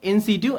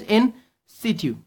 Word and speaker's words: in situ: is an eye drop in situ and the pronunciation is in situ okay it's in situ now what is this